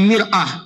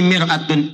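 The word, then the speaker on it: مرآة: Cuma bacanya yang ini pakai fathah, ini kasrah. Ini mar'ah, ini miraah. Maknanya bisa beda. Silakan lihat. Ini maratun, ini mir'atun.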